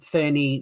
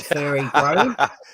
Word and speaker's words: Ferny: not all yuppies in ferny not fairy fairy grave yeah so